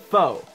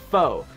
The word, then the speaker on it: faux: the time FAU ex that is how you pronounce it faux say it with me because everybody gets it messed up faux that means fake or not real so whenever